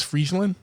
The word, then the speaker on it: Friesland: i saying it wrong it's not freesia it's friesland friesland friesland that's like the freezing wave but freesia that's like i guess in the english way i don't i don't